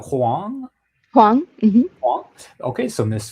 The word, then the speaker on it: Huang: Huang.